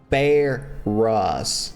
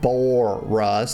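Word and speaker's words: Baurus: His name is Bear Rus, not Bore Rus. There's no O in it.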